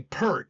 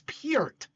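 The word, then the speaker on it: Peart: I mean when he's one of the it's you know a lot of people want to say per it's not per it's pert I can't say it right but it's not per spelled like per but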